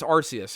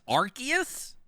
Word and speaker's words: Arceus: And for I think it's Arceus, okay?